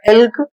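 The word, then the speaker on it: elk: अगला शब्द है ई एल के और इसका उच्चारण होगा इल्क।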